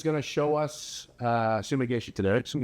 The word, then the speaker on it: Sumi Gaeshi: He is going to show us uh sumigi today. Sumishi. If you're from Japan, how do you say it? Sumi gayhi.